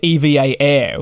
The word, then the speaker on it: EVA Air: without challenges and yes referring to them as EVA Air I know that's technically how you pronounce it I know most of us though will refer to it as Eva so it's going to